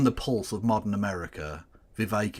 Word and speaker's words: Vivek: Vivek, it rhymes with cake, Ramaswami.